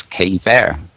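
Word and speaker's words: Caye Verte: Well, I guess K-Ver is the way you pronounce this. Ver coming from the French.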